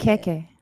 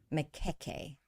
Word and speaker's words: Majoko: And so, can you confirm how am I supposed to, or how do you pronounce, or how is that name stated? Makeke. Makeke.